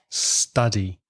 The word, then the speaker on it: study: of the verb study the vowel sound is aa the same as up so ah study I'm studying arrays or